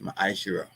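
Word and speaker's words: מעשר: You can find this in numbers 18:21 and Malachi 38-10 and it means tent in the Hebrew and is pronounced masher.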